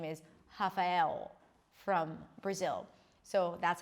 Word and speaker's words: Rafael: a H sound, like Rafael, like an H sound. So actually there is an H, it's just pronounced as an R. Rafael, a good friend of mine, his name is Rafael from Brazil.